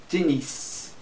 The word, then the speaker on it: tennis: Joueur de tennis. Aqui você pronuncia o S.